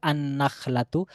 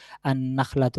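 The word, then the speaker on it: النخلة: তাহলে সেক্ষেত্রে বলতে হবে আন নাখলাতু আনাখলাতু এখানে লামটি আসবে না বরংলাম টি নুনের সাথে মিশে গিয়ে নুনের উচ্চারণ হবে আন নাখলাতু।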